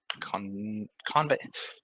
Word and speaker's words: Convey: emphasis on the wrong syllable. First syllable. Yeah.